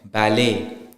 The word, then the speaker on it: ballet: Same thing with gourmet, ballet. The T is not pronounced.